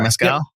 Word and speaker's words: Mescal: Mescal? Yep. That's how I've been pronouncing it.